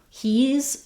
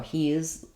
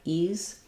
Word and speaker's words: he's: He's or he is becomes he's. Again, make sure that you're not doing two syllables like he is or he is, trying to just cram the he is faster. It's just one syllable, three sounds, e and z, he's. This is another one that can get reduced. Sometimes the H will drop and it'll just sound like ease.